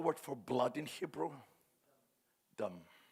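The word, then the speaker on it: דם: Dam. D-M. Only consonants, and there is a vowel just to help pronounce. They have only consonants, but the vowel is there in the pronunciation.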